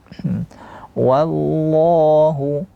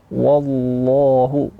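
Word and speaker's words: والله: Kemudian lafzul jalalah di lam ini tebal. Wallahu. Ha, sering terjadi kesalahan. Ditebalkan semua. Wallahu. Wallahu. Ya, itu keliru.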